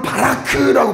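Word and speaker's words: ברך: 여러분, 이 복이라는 단어는 히브리어로 바라크라고 발음을 합니다.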